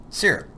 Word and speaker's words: SIRP: In this lesson we're going to explore the use of SIRP in education because you see SIRP makes learning sticky and we want learning to stick. It's pronounced like "syrup," Texas style. syrup so what do we